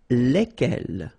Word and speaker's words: lesquels: All right, so final S is not pronounced. So here, when you get this L-E-S, okay, it's just like the article, if you remember, les, okay? So it goes like lesquels, all right?